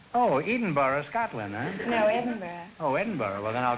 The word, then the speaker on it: Edinburgh: No, Edinburgh.